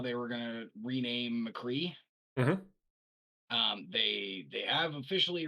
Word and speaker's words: McCree: Cassidy on right no you're going to say McCree it's two syllables and we already know